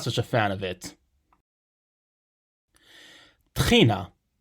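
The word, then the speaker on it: טחינה: a fan of it trina this is how we pronounce tahini in hebrew the tahini you'd find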